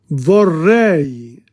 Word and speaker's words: vorrei: Vorrei, E-I, two sounds.